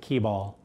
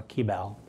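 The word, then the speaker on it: Kibal: And then, of course, there's the very handy, I'm pretty sure they pronounce it Keybal. It's K-I-B-A-L, or Keybal.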